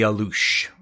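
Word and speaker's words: alux: and it's called the alouche a-l-u-x the x is pronounced like an sh so I lose uh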